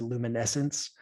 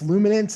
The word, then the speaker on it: Luminance: but this is luminance which i mispronounced quite a few times last time we talked i said luminescence um but it's luminance is the football product